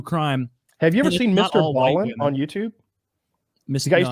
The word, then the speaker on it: Ballen: Have you ever seen Mr. Ballin on YouTube? The guy used to be a Navy. I hope I'm getting his name right. It's like Mr. and then Ballin. Ballin is spelled Ballen.